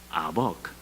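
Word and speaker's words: אָבַק: 야복, 아벅 발음이 비슷하지 않아요?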